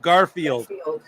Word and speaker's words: Garfield: It's Garfield. Like Garfield the cat.